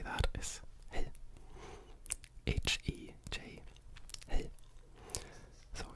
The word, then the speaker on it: hej: say that is hej. H-E-J. Hej. So it's really simple. 3 letters. Hej. Now you've said hello in Swedish. And hej also happens to be the pronunciation in Norwegian as well, however with an